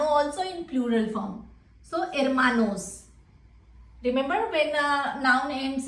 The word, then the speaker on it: hermanos: So hermanos.